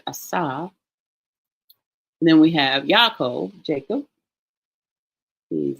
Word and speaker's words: Yaakov: This letter here is silent, but this marking here, this nikud here, tells us that this letter is going to have that short A sound. So Yaakov, his name is translated as heel grabber or supplanter.